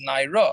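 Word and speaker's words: נערה: When you spell the word in the Torah nun ayin resh, you don't necessarily need a hey there in order to pronounce it as naira. If you put a kamatz under the resh, it's going to be naira without the hey.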